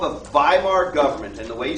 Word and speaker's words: Weimar: but it's called the Weimar government. And the way you spell that is W-E-I-M-A-R. W-E-I-M-A-R. I'll adjust the slide here when I post it. But in German it's pronounced like a V.